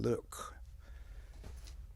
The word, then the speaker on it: Luc: in the front spelling that spelling is Luc and since I'm from Haiti it's called in French it's called Luke Lucretia somebody said the